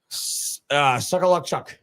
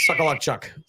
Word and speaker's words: Socholotiuk: Socholotiuk. Matt the Hawk. Socholotiuk.